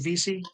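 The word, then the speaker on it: Veasey: Is it Vesey? Is that how you pronounce it?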